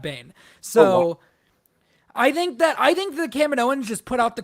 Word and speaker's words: Kaminoans: The Kaminoans?